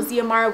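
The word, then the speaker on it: Xiamara: fact and then also her name would have been spelled With The X so It would have been x i a m a r a so zmr With The X Silent and I was like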